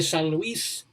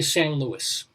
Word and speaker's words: San Luis: here san luis colorado san luis l-u-i-s now if you were hispanic or if you're mexican usa san luis probably pronounce it like that but since we're american and especially flat in the midwest colorado they just say san luis like saint louis what yeah san luis